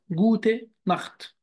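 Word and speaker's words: gute Nacht: منين كلمه نخط جت تكلمنا من شويه عنها وعرفنا امتى بتنطق خ وامتى بتنطق ش هنا سبق حرف الا وبالتالي تقرا زي الخا جوت نخت جوت نخ ولاحظ هنا ان انا ما قلتش جوتن انا ما قلتش جوتن زي ما قلت جوت مورن وجت وجت انما في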